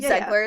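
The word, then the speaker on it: Zegler: that's her name right zler is how you pronounce her last name people were [ __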